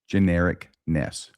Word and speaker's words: genericness: Genericness. Oh, it is just generic. I was going to put the emphasis on the wrong syllable.